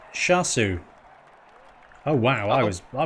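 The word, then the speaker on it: Seosamh: with uh two spp it's irish for joseph it's pronounced shasu oh wow i was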